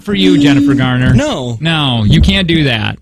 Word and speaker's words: Garner: It's Garner, not Gardner. It's not Gardner.